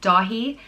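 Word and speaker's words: Dathí: that's a great name the next name is da he and it means swiftness or nimbleness and his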